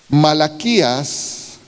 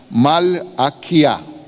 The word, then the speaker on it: Malaquía: Malaquías en hebreo, tratando de pronunciarlo en castellano y tratando de adaptarlo con alfabeto castellano, sería Malaquía. Ese es el nombre hebreo de Malaquías, Malaquía. Castellanizándolo, pues ya es Malaquías.